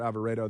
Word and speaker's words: Alvarado: They call it, it's spelled Alvarado, but they pronounce it Alvarado there.